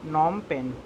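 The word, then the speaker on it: Phnom Penh: रहा होगा नार्म एक पैन इसका स्पीच यह साइलेंट है उसको पुश्त करते हैं नोम पेन्ह अ कि यह है आप मैं हमेशा यह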